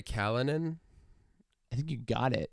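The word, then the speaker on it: Callinan: have been messed with is it Kirin J Kalinin I think you got it it's a weird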